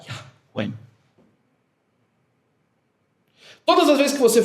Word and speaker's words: Yahweh: E diz que a correta maneira de falar o nome de Yahvé era Yahweh.